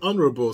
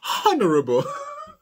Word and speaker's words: honorable: And a lot of times when I hear people speak English, they don't pronounce the H honorable. They say honorable. So sometimes I go, honorable.